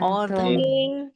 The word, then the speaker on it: autumn: And Autumn. autumn. Autumn. Autumn. Nah, ini ada huruf N-nya tapi nggak usah dibaca ya, bukan autumn gitu, tapi autumn. Autumn. Itu namanya silent letter. Ada hurufnya tapi nggak dibaca.